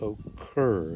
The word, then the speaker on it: occur: part is stressed so this word occur notice that the stress is on occur the second part all right so all